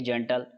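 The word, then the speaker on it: gentle: एन टी एल ई जी के बाद में ई आया है तो बिल्कुल जैसे इसका उच्चारण करेंगे जेंटल बी आई ओ एल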